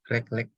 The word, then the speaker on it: recollect: Recollect. The correct one is recollect. So the E in the recollect, you should pronounce it as A, not E. Recollect.